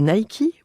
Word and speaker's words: Nike: auditeurs bonjour savez-vous que Nike ou plutôt Nicky prononcé à l'américaine vient de livrer son